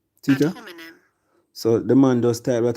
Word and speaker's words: ad hominem: Alright, so the proper pronunciation, yeah? Ad hominem. Wanna get it? Ad hominem. Teacher? Ad hominem.